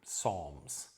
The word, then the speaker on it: psalms: Where they came into English with this odd spelling, PS, that actually isn't pronounced at all, psychology, psalms, we treat it as if it's just an S.